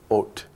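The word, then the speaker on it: אות: letters and reverse them, put the Vav first, and it's pronounced Ot.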